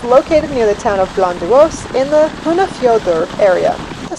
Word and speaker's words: Blönduós: So Hóp lies in North Iceland, near the town of, I think it's pronounced Blönduós.